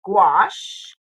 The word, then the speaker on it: gouache: Now we're using our Hemi gouache. Yes, we are. Gouache rhymes with squash to color the grass, and see how quickly it went.